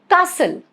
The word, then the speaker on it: castle: Rule number 2, silent in words ending in S-T-L-E, like whistle, T is silent, castle, get it?